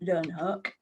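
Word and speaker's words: Leeuwenhoek: amazing chat called anony van Luen herk I'm assured that's how you pronounce it learn hook Dutch now when it comes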